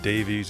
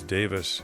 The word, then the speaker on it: Davies: I I was told by somebody to know that it's not Davies, it's Davis.